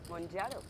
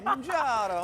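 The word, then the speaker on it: Mounjaro: I don't know how to pronounce the other one because I haven't heard. Monjaro. How is it spelled? M-O-U-N-J-A-R-O. Monjaro.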